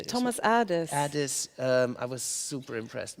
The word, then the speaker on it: Thomas Adès: Thomas Adès.